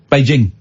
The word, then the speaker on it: Beijing: It's a hard J. Beijing. Okay.